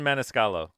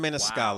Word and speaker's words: Maniscalco: Sebastian Maniscalco. Sebastian Maniscalco.